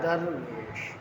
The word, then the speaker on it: درویش: بولا جاتا ہے، اور اس کا صحیح تلفظ کیا ہے؟ درویش۔ ایک درویش کو میں